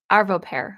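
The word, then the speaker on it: Arvo Pärt: Arvo Pear, I think is how you pronounce his name.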